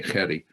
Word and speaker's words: Jerry: The Jerry is pronounced in the South African way, Jerry.